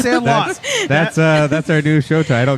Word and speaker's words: Sandlot: Is it Sandalite or Sandalot? It's Sandlot.